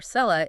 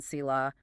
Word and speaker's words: selah: Keel argues the current Masoretic pointing of the vowel sounds, which gives us the pronunciation selah, might be a later imitation by scribes. So, they might have changed how it sounded. Yeah, originally it might have been pronounced salal, specifically meaning an elevation.